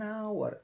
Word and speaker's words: hour: como em hotel não você não fala H você fala H então ele tá só presente aqui mas ele não tem som nenhum então this Trip Takes an hour an hour uma hora